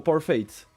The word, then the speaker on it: Parfait: fun fact basically um parfait may uh means perfect in French but um like in French perfect is said per uh so yeah you don't say the t but if you want